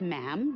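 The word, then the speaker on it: ma'am: her majesty um and after that it's just mam rhymes with jim and it's always a curtsy especially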